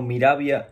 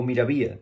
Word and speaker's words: Miravia: moda está ahora mismo, titulada como Miravia o Miravía, dependiendo de la persona que lo pronuncie.